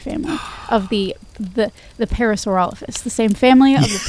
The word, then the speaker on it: parasaurolophus: Ducky was in the hydrasaur family of the the the parasaurolophus. The same family of the parasaurolphus.